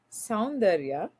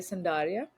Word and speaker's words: Sara: I'm not even sure how many syllables at this point, but my first name is Sara in India. That's what you would say. In America, most people would say Sara.